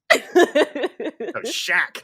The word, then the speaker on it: Shaq: high-tech guns chef shaq not sharp yeah shag can you